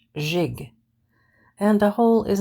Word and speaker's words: gigolo: in the third place the gig is pronounced jig and a whole is